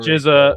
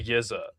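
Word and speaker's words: Yizha: the Khan Ofili versus Yiza. Is that how you pronounce that name? Yes, The yes. Not robbery, Jizza, bro. not Rizza, the Yizza.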